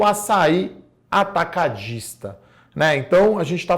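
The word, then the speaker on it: Assaí: O principal concorrente do açaí, igual o açaí suco e não açaí, tá, pessoal? Então muita gente fala sobre isso, então a pronúncia correta é açaí, tá?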